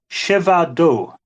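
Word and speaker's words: Przewodów: But it's Siewado.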